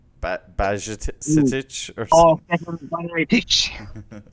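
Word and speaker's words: Bajčetić: Stefan Bajatic. Say it again. Yes, Stefan Bajatic. Oh, lovely pronunciation there.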